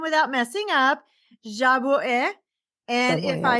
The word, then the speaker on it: Jabouin: I have Priscilla, and I'm going to try to say her last name without messing up, Jabouin.